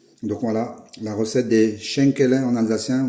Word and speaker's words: Schenkele: Donc voilà, la recette des Schenkele en alsacien, ou Chankala, ça s'écrit Chankala, mais ça se dit Schenkele, aux cuisses de dame, de la briocherie de Pascal.